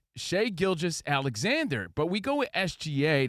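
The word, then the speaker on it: Shai Gilgeous-Alexander: Is it Shea? Is it Shai? Is it Gilgis? What's up, Gilgis? It's Shea Gilgis Alexander.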